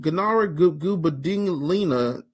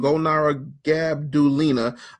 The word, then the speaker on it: Golnara Gabdulina: Gunara Gubadinglina. I just butchered your name. Golnara Gabdulina. First day on Periscope.